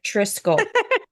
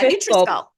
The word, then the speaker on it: NutriSculpt: I would say like nutrition, but shorten it. NutriSculpt. Yeah, NutriSculpt.